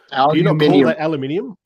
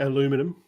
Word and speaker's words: aluminium: the aluminium aluminium what aluminium that's how i say it i can't pronounce it the way most americans pronounce it so i've said aluminium for as long as i can remember what what's it oh